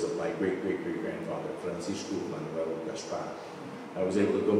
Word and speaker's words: Gaspar: So, Gaspar.